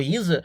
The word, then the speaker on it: Resa: Uma vez que o S tem som de Z, você pode falar reza ou risa.